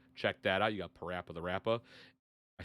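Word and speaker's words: PaRappa the Rapper: You got Parappa the Rappa.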